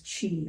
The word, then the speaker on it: qi: long time ago um the symbol for that intelligence is pronounced Chi and this chain flows